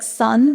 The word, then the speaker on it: Sun: Spelled like sun, but pronounced Sun.